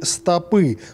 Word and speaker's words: стопы: ударение в этих словах правильно будут широкие стопы потому что ударение во множественном числе Если вы говорите О части ног падает на последний слог поэтому и получаются стопы стопы - это что-то другое например пачки бумаг или газет стопы книг так как же грамотно